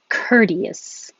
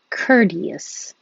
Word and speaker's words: courteous: hope not okay courteous courteous and curious sounds similar but you're starting curious with your tongue very high in a y position because you're getting ready to say cure near curious and this one cur i don't have to have my tongue super high in the middle only in the back for the k ker but 25 i start with my tongue in the high in the middle and the back cure curious i'm curious how